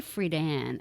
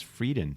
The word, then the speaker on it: Friedan: Betty Friedan, because I went to an all-girls high school. Is that how you pronounce it, Friedan? Yeah. I thought it was Frieden for some reason.